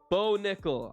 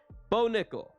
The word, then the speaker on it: Bo Nickal: All right, I'm gonna pronounce his name right. Some people got mad at me for mispronouncing his name. I went off what I heard him pronounced by Fitzgerald and Laura Sanko on the Contender Series, but I'll admit I was wrong.